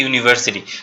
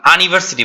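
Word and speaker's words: university: না, কি হবে, এ ইউনিভার্সিটি, কারণ আমরা উচ্চারণের সময় আমরা আনিভার্সিটি বলি না, আমরা বলি ইউনিভার্সিটি।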